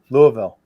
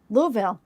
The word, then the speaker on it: Louisville: do you pronounce that Louisville Louisville nope nope nope did I say it wrong Louisville Bakers how do you say itou Bakers Louis he got it you gotta you gotta slur it as much as possible